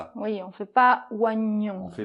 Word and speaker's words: oignon: Alors là, quel est le problème ? Ben c'est un peu que c'est une exception en français, parce que c'est un O combiné normalement avec un I, quand il y